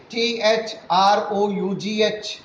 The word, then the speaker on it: through: See, all are ending with O-U-G-H, O-U-G-H, but the pronunciation is different. This word, T-H-R-O-U-G-H, through, through, whereas this word is through, through, whereas this word is through, through.